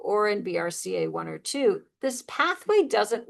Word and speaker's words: BRCA1: Check 2 talks to p-53, bracka 1 and bracka 2 or I usually pronounce it BRCA1 and BRCA2 and others.